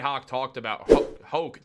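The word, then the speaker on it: Hoch: Max Fried has been great for the New York Yankees, and Brian Hoke talked about it. I always want to call him Hawk. I know it's Brian Hoke.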